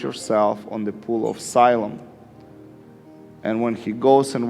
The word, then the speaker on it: Siloam: on the pool of asylum and when he goes and washes or siloam depend depends how you put the pronunciation i think more jewish way would be siloam and english asylum and that pool it's